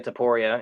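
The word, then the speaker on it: Topuria: Justin Gaethje and Ilya Taporia is the proper pronunciation of those fighters' names.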